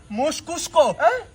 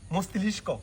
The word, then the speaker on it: মস্তিষ্ক: সে না আমার পুরো মস্তিষ্ক মনস্ক মস্তিষ্ক মস্কুস্ক। আরে বেটা, তোর মুখ দিয়ে আসল উচ্চারণটা বেরো না, আমি বলে দিই মস্তিষ্ক।